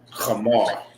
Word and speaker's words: Kamar: So when you do the ka, you do the ka. You know what I'm saying? Just like your name, Kamar. That's actually how you say it. You know what I mean? If you say Kamar, that means it's with a K.